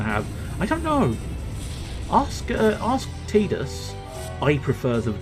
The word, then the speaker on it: Tidus: Tide, as in the water tide, the sea tide, so Tidus. But I'm fairly certain the official pronunciation is Tidus. But to me, that sounds a little bit too much like tedious, which is kind of a little bit on the nose, because the fella's a little tedious.